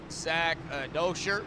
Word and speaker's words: Dosher: Zach Dosher, that is actually how you pronounce it, I do believe, but I call it Douchier.